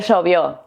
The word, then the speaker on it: llovió: En Buenos Aires la W l y la y se pronuncian como una sh en inglés.